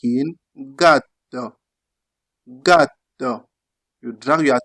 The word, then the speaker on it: gatto: Then you also have G in Italian like in gatto. Gatto. You drag your tongue since you have double T. Gatto.